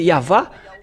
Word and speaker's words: Yahvah: Et ceux qui ont prononcé Yava, ceux qui sont ôtés du péché et n'ont plus péché. Mais ceux qui ont prononcé Aou, ils ont sombré dans le péché.